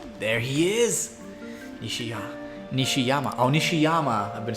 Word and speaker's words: Nishiyama: Oh, Nishiyama. I've been saying his name wrong this whole time.